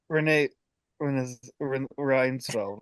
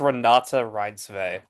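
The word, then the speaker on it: Renate Reinsve: Renee Reinsfeld, right? That's her. That's how you Run, pronounce it. I think it's Renata Reinsve.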